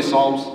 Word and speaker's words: Psalms: psalms can everyone say psalms the p is silent now psalms was written